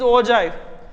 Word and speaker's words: ogive: It is ogive, pronounce is ogive, but we can write down in ogive.